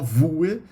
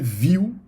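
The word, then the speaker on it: Vue: aí é o viu Apesar do nome erro e não não fala voe a pronúncia é viu ok também a outra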